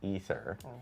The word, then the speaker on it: Aether: And then we learned that canon in Diablo I despite it being spelled ae t h e r it's actually pronounced ether uh thanks to mway uh who said it